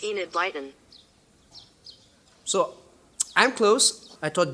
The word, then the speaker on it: Enid Blyton: how do you pronounce and it lightens that's pronounced Enid Blyton so I'm close I thought Google was the